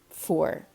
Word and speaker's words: fuar: So it is cold in Irish is tá, shay, foor.